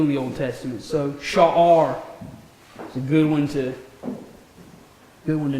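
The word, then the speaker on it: שער: Next we have Sha'ar. You have that guttural there, holding that short vowel. Sha'ar.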